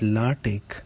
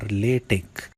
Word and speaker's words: LaTeX: LaTeX, it is pronounced as LaTeX or LaTeX and is based on TeX, developed by Leslie Lamport.